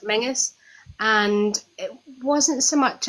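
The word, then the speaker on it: Menzies: Castle menus it's spelled menes but it's actually pronounced Mingus and it wasn't so much a it was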